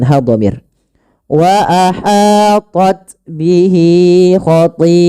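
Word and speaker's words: خَطِيئَتُهُ: Kemudian panjangkan pada lafal ti'atuhu, karena pada lafal ti di sini awalnya dia mad tabi'i. Karena bertemu dengan hamzah dan hamzah tersebut pada satu kata, maka kita membacanya dengan bacaan hukum mad wajib muttasil. Mad wajib muttasil adalah mad yang terjadi disebabkan karena adanya hamzah yang terletak setelah huruf mad.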